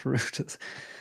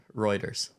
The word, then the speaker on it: Reuters: Everyone's taking the piss at how I pronounce routers. I guess routers. Is it routers? Reuters. Reuters? Reuters. Reuters? Reuters, unless you're British.